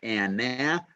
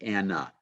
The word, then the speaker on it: Anna: So Anna, we do not say Anna, we say Anna.